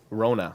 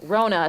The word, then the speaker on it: Wrona: say your last name Rona Rona C just don't pronounce the W this is something we